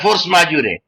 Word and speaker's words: force majeure: Which of the following is a vis major or a force majeure? We should not say force majeure. Force majeure. That is the pronunciation.